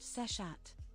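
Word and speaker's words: Seshat: Her name is pronounced sessat.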